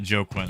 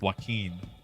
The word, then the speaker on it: Joaquin: at pronouncing things like like the name Joaquin I thought it was joke when for years the I was finally corrected turns out it's not Joe Quinn at all it's Joaquin I never would have